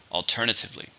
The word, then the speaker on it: alternatively: syllables are in alternatively there are five stress in a second alternatively we could go to